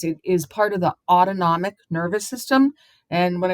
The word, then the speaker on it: autonomic: is part of the autonomic nervous system and when I was teaching itd say to the students think about that as autonomic s sounds like the word automatic it it turns itself on